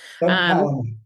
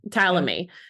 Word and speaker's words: Tallamy: Uh, so when we initially met, Jason, you mentioned someone named Doug Tallamy, or um, and if I'm mispronouncing his last name, definitely correct me. Tallamy. Tallamy.